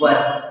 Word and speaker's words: were: वर।